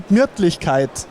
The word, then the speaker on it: Gemütlichkeit: Die Gemütlichkeit. That's close. It's die Gemütlichkeit. Can we do it all together? Die Gemütlichkeit. Die Gemütlichkeit? Yeah, that was nice. So, and the Gemütlichkeit means?